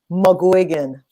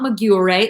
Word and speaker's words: McGuigan: Even in like people like saying my name to me, I'm like, no, it's not Maguire.